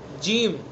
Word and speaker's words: جیم: صرف زبان کا بیچ اوپر تالو پر لگائیں گے تو جیم ادا ہو جائے گا جیم جیم. جیم کا صحیح تلفظ اسی وقت ہوگا جب اس کو اس کے صحیح مخرج سے ادا کریں گے.